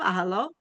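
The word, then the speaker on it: אהלה: Since this is the case, the fact that the word is written ahalo with a hey, even though it's pronounced with a vav ahalo, is coming to teach us something else.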